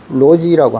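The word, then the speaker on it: 逻辑: 이게 라집이 중국말로는 로지라고 합니다. 로지. 그래서 영어의 로직하고 발음이 비슷하죠.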